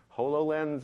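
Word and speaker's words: HoloLens: called hollow lens okay some people call it hollow lens and hollow lens and there's a whole bunch of pronunciations already coming out but it's holographic so hollow lens and I want to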